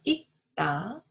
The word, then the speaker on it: 읽다: In case of 리을 and 기역 받침, 기역 should be heard as a 받침 when it comes next to 다.